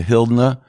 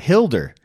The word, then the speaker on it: Hildur: we're gonna talk to Hilda goodnight daughter now you butchered it that's it Hildur well I was gonna